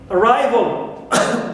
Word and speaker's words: arrival: Al, like in arrival. We don't here stress vol because it is neutral, al, but we stress arrive as usual.